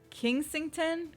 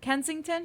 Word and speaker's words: Kensington: Austin Powers and Miss was it kingsington Kensington Kensington okay I put an ey this is Kensington I put an i